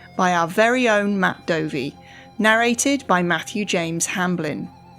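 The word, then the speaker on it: Dovey: as episode 667 Matt dovy is very tall and very British and although his surname rhymes with Dopey all other similarities to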